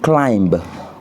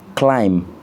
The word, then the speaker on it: climb: On ne dit pas to climb, on dit to climb, c'est-à-dire grimper.